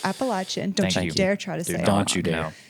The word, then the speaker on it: Appalachian: pronounce it I got in so Appalachian. much trouble when I first moved here. It's Appalachian.